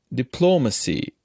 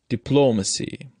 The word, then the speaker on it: diplomacy: column diplomat photograph monotone when the noun forming suffix Y occurs distress in these words shifts to the second syllable look at this column diplomacy here the noun forming